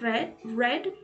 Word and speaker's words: read: En el if clause tenemos had y read en el pasado participio es read y se pronuncia diferente pero se escribe igual.